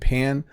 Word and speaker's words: pan: Pen and pan. You would use a pen to write. You would use a pan to fry an egg. Pen obviously rhymes with men. Pan rhymes with man.